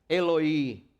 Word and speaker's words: Eloí: Devido ao fato da pronúncia aramaica Eloí ser bem parecido com a pronúncia hebraica Eli, Marcos dá a entender